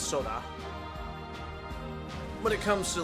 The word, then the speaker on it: Sora: Sora is actually pronounced Soda.